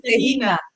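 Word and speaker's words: Dé hAoine: So let's get the pronunciation. So Friday's Dehina. Friday is Dehina.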